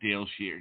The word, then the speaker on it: Dayle Schear: you are live on the air with psychic Dale sheare did I say it right yes yes yes